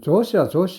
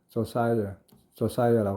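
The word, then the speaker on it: Josiah: 그 다음에 미스터 조사이어 크로포드가 나오는데 크로포드 조사이어 우리는 보통 조시아 하죠. 근데 그 원발음은 조사이어라고 하고요.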